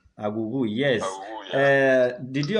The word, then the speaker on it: Aghughu: Awuwu is spelled Aghughu. Let me help you to pronounce this. You are pronouncing it in American way. His surname is Aghughu. Aghughu, yes.